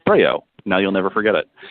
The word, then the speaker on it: Breyault: two and we're with our special guest and you know I'm I'm butchering your new Mike is that the correct pronunciation no no you got it right congratulations